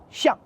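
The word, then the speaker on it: 臣: premier ou chef chien ici ce caractère se prononce au 4è ton Chen signifie ministre conseiller quand on le prononce au premier ton chien c'est dans le sens mutuel réciproque le mot qu'on utilise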